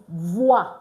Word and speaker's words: voix: OY and OI is pronounced wa. So VOY is voix.